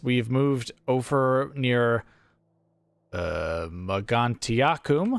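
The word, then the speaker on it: Mogontiacum: moved over near uh magantiakum that's how i choose to pronounce that and as you can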